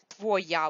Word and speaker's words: твоя: Твоя, we just pronounce it твоя, because the stress is on я, or is not stressed.